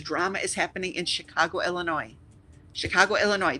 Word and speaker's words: Illinois: is happening in Chicago Illinois Chicago Illinois the S is silent don't say it because we look down